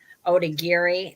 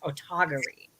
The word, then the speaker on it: Otagiri: most people for a long time we've been pronouncing it otagiri but the language expert Angela who is a language expert she says it's actually pronounced otagary it's taken me a long time and this